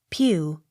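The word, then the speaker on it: Pugh: a c t pomfret p u g h pew p y t c h l e y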